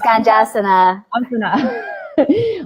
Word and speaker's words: Ganjasana: And Rachael taught her famous Ganjasana or am I saying it right? Yes, Ganjasana.